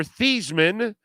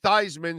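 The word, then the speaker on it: Theismann: is a coward okay Joe Theisman or theseman was his name because they changed it to Theisman so it can rhyme with Heisman when he was in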